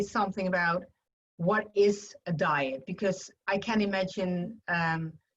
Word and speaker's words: dyad: to pronounce it correctly i think it is diet diet because normally people think it is something has something to do with food the way we are